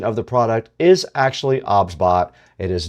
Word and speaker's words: OBSBOT: The pronunciation of the product is actually OBSBot.